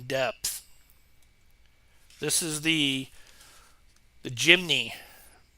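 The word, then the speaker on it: Jimny: this is the the jimy I actually thought it was Jimmy but it's spelled j i m n y it's the uh FMS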